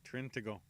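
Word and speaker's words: Trintignant: Spell it. Say it. Trintigo.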